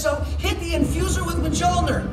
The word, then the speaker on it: Mjolnir: When Shuri says so, hit the infuser with Mjolnir! It's pronounced Mjolnir. Mjolnir. Mjolnir. Meow-meow. No, watch my lips.